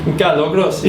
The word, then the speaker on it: Carlo Grossi: How would you pronounce his name if you were over in Italy? Carlo Grossi.